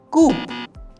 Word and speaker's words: coup: Coup. The correct pronunciation is coup. P is silent, so the word is not coup, it is coup.